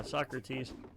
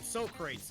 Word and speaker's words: Socrates: oh yeah when they meet caesar oh yeah socrates yeah they met soccer face so no soap crates it's so crazy that's how they call them